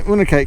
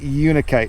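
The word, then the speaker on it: unakite: I watched a video and they pronounce it with a a long u sound. You are probably correct. And I should probably stop calling it unite and start calling it unikite.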